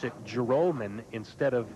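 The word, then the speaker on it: Joralmon: j o r al mo n that we pronounce it Gerome n' instead of jure almond which is how it appears that it should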